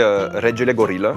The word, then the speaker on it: Regelegorila: Alors c'est reggae. Oh putain, mais Simba, ça suffit. Bon, allez, comment ça se prononce? La vraie prononciation, en fait, c'est du roumain, donc c'est Regele Gorilla, qui veut dire le roi des gorilles.